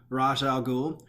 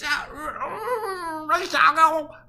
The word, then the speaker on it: Ra's al Ghul: The images are, in some people's opinion, a reference to the Court of Owls and Ra's al Ghul.